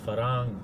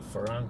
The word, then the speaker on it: farang: Farang, F-A-R-A-N-G is how I spell it, is the Thai word for a foreigner, a farang. And kind of like Star Trek's Ferengi, the farang.